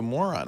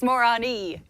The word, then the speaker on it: Morrone: You know, you can correct her pronunciation of Morrone. Yes, we'll work on that later. I would like to, because it calls you a moron. I think that's not nice. It's Morrone. Morrone.